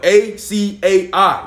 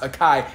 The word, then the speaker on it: açaí: i want the akai bow the thing spell a c a i the bow yes sir i know i'm afraid you're pronouncing it wrong it's not pronounced akai it's pronounced acai oh my oh my bad